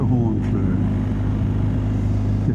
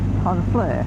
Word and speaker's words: Honfleur: Thought you had to come to Hornfl that's how you pronounce it. It's H O N. There's no R in it.